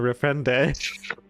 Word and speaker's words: reprendre: Alright, so instead of starting a nouvelle, we're gonna reprendre. Wait, reprendre. Reprendre? The E is silent. The last.